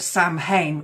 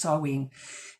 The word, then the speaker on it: Samhain: on the wall Sween and they pronounced it Sam Hayne it's spelled Sam ha s a m h a i n but it's pronounced saen it is the Celtic pag Festival of the